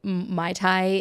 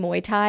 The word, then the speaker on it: Muay Thai: Muay Thai. Muay Thai. Guys, I can't. We talked about this. My Thai is a drink, Muay Thai is a sport. Hello. Okay. I could imagine that practicing Muay Thai in Thailand is a